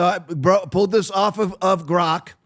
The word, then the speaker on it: Grok: So I pulled this off of Grok. Finally saying it right, Aaron. I finally stopped saying like Gronk, like Gronkowski.